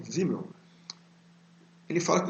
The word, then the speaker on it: Simmel: Então, tem uma frase do Simmel, se escreve com S, mas fala com Z, Simmel.